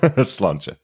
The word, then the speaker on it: Sláinte: Sláinte. That's how we pronounce it.